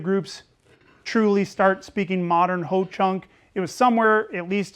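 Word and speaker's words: Ho-Chunk: would say you know Ho Chunk rhymes with blow chunks or you know sounds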